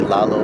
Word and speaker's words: Lalo: How do you pronounce that? Lalo.